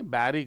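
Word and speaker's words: bury: Many बैरिड villagers यह बरिड नहीं है। बैरी करना, दफनाने को बैरी कहते हैं। स्पेलिंग तो भले ही बी यू आर वाई होती है लेकिन इसको प्रोनाउंस करते हैं बैरी। इसका फनेटिक ट्रांसक्रिप्शन यह बनता है बैरी।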